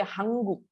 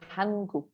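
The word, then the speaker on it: 한국: I hear some people say Hanguk. It's not Hang, it's Han. Okay, Hanguk.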